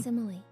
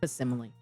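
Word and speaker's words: facsimile: Faximile. Faximile. Faximile. Faximile. Okay. I've always heard it pronounced as fimile. I think that K was a like that C was like a K or faximile thereof is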